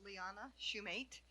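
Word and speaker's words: Leana Shumate: And please correct me if I mispronounce. Hello, my name is Lyanna Schumate.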